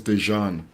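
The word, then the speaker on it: Dezhan: and my first son, his name is Dejan, and normally that would have been spelled with a J, but it's actually spelled with a ZH, because that syllable actually makes the j, yeah, makes actually the Yeah.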